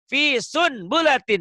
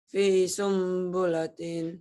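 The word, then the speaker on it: في سنبلة: Ini fi sun bulatin, baca. Fi sunbulatin. Salah baca gitu harusnya. Fi sumbulatin. Kenapa fi sumbulatin? Karena nun mati bertemu ba. Apa hukumnya? Iklab. Bagaimana cara bacanya? Harus M.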